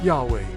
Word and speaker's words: Yahweh: The Hebrew phrase is YHWH, often pronounced Yahweh, meaning the self-existing, eternal, unchanging one.